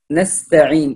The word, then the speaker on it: نستعين: نستعين هنا النون مرققة مفتوحة والسين ساكنة مرققة أيضا والتاء مرققة أيضا، فنقول نستعين نستعين، وأيضا كسرة العين لا تكون فيها اختلاس، نتم الكسر فيها فنقول نستعين.